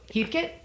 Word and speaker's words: Heathcote: good night pause how do you say your last name he coat Heath Heath kit Heathkit or Heath coat he coat Heath coat okay I should know